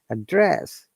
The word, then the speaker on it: address: monika then susie remember you should use a dress as a verb and we're stressing the second part address or you can say